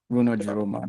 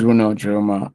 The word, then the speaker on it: Runor Jiroma: Um my name is Runo Runo Jeroma. That's That's a Zonerobo name. So, you have to address me to pronounce it properly, but all right. Um my name is Runo Jeroma.